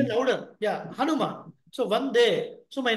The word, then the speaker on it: Hanuman: Son of V who is son of V Hanan louder yeah Hanuman so one day so my namaskaram my prostrations